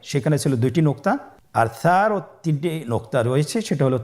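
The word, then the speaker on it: ثاء: সা হরফটি বারিক মানে পাতলা করে উচ্চারণ করতে হবে। তাহলে আমরা এখন সায়ের মাখরাজ লক্ষ্য করি। সায়ের মাখরাজ কোন জায়গা থেকে? স্ক্রিনে দেখা যাচ্ছে। সা হরফটির মাখরাজ হলো উচ্চারণের স্থান জিহ্বার আগা সামনের উপরের 2 দাঁতের আগার সঙ্গে লাগিয়ে উচ্চারিত হয়।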